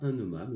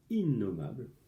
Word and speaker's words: innommable: Que l'on ne peut pas nommer innommable, on ne prononce pas innommable, on dit innommable.